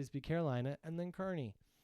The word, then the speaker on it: Kearney: Kearney, Nebraska is pronounced Kearney, Nebraska. See? Kearney or Kearney.